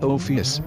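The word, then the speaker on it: ὄφις: Ophelia also sounds similar to the Greek word for snake, pronounced Ophius, which may allude to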